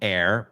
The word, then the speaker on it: heir: En el segundo, la H de air es muda. Y air, pues air como aire no tiene H, así que no te tienes que preocupar ahí.